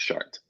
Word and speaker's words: Chartres: That's Chartres, pronounced Chartres.